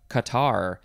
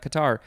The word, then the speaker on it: catarrh: for that um cool okay next we have qatar c-a-t-a-r-r-h it's spelled not the typical way that we spell things here in english it is a qatar noun from the 15th century inflammation of a